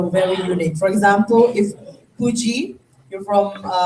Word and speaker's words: Pudji: So my name is spelled Pudji, so it's Puji. Yeah. But for the new spelling, it's just Pugi.